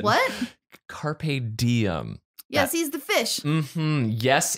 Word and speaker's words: carpe diem: michael beardy joined by my co-host reid bryce carp diem oh not even the proper pronunciation what carpe diem yes he's the fish yes indeed uh basic